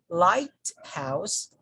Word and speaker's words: lighthouse: the third word is light house light house light house lighthouse lighthouse okay so we put the stress on the first syllable and the no stress on the second syllable or sorry second component